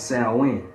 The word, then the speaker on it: Samhain: It's spelled like Samhain, but it's pronounced as Samhain.